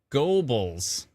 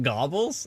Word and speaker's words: Gobles: Is it pronounced Gobbles? Gobles. Oh, it's Gobles? Go Bells. Everybody's pronouncing it differently. It's not Gobbles.